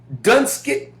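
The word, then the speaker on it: Donetsk: Now Obama traveled to I think it's pronounced Dunkit D O N E T SK K is eastern Ukraine.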